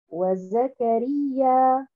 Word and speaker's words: وزكريا: La prononciation du mot au complet, nous allons dire وَزَكَرِيَّا.